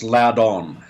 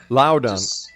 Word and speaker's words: Loudon: It's actually pronounced Loudon. Loudon.